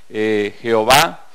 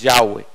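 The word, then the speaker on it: Yahweh: la iglesia cristiana protestante van a decir jehová y la pronunciación correcta de acuerdo a los sabios judíos es ya ve y estamos estudiando este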